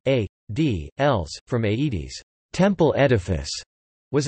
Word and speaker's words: aedīlis: Aedile Latin, Aedilus Latin pronunciation, A, D, Els, from Aedes, temple edifice, was an office of the Roman Republic.